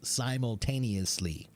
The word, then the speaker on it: simultaneously: neyar simultaneous simultanously simultanously six syllables simultaneously is shadowing good for